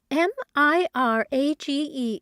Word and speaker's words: mirage: M I R A G E is pronounced mirage, said Valency shortly, picking up her tea and her beans.